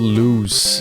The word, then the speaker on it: Lewes: Also, I have a place called Lewes in the UK. Lewes. It's like Ludes, but without the D.